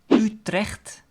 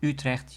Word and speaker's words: Utrecht: also a major city Utrecht so that you the first letter of Utrecht is actually an exception to the rule because usually when you